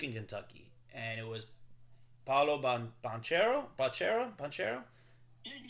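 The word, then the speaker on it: Paolo Banchero: Kansas was Duke and Kentucky, and it was Paulo Banchero.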